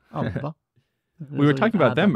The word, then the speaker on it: ABBA: Should I be saying ABBA? Is that better? Should I say ABBA? ABBA would be the Swedish pronunciation. ABBA.